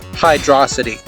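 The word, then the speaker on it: Hydrocity: FYI, it's pronounced hydroity. Sorry, I don't make the rules. Hydroity is subjectively correct.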